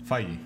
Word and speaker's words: Feig: Feige.